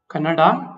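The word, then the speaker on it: ಕನ್ನಡ: Canada जो मैंने ऊपर लिखा है फर्स्ट वाला वो सही वाला प्रोनाउंसिएशन है. कनाडा, ये कनाडा नहीं है. क्या है? नहीं है कनाडा. कन्नडा नहीं है. कन्नड़ तो बिल्कुल नहीं है. आपको प्रोनाउंसिएशन करना पड़ेगा कन्नडा. कन्नडा गलत है. कन्नड़ गलत है. कन्नडा सही है.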